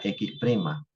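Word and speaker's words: x′: me falta me falta x prima o sea la primera derivada va acuérdense que x con la comita se pronuncia x prima o x primera derivada primera derivada de X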